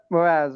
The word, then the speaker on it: Mraz: As you say, you pronounce it Mraz? Yep, Mraz, like Jason Mraz.